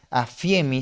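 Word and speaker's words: ἀφίημι: Ahí tienen una palabra griega afiemi si se pronuncia de esa manera y esa palabra nos transmite que el perdón es la cancelación de una deuda.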